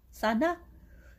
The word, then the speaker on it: Sana: It's Sana.